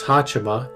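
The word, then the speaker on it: はち: Hato, otherwise known as Hachima, gets a full set of 8s as her post number. Now 8 is pronounced Hachi or just Ha when read in kanji shortenings, so Hachima and the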